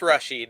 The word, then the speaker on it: Rashid: Spell it. Rashid, yeah. Okay. Just Rashid is fine.